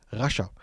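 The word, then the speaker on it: Rascha: Oder von wem spricht man hier? Die Bibel sagt zu uns, das Wort auf Hebräisch kommt von Rasha, also R-A-S-C-H-A, Rasha.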